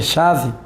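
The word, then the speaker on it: שָׁוְא: grega epao impensadamente e o substantivo Chan pronuncia chave hum significa vaidade ou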